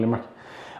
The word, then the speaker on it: Limerick: I'm going to Limerick. That's how you say it. Like, I'm going down to Limerick.